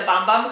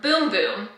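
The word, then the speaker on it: Bum Bum: been calling it the bomb bomb cream because it's spelled bomb bomb but it says pronounce boom boom this will make your heart go boom boom so not bom bom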